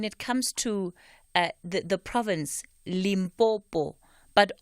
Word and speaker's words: Limpopo: But often you'll hear, particularly Nguni speakers, saying Limpopo. What is that also? Is that a function of this issue that we're discussing today? Exactly. In Nguni, we talk about impompo, like the tap. So suddenly you have Limpopo.